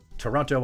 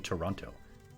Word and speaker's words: Toronto: far from me actually you can tell that someone is not from Canada if they pronounce the second T in Toronto Toronto is that like when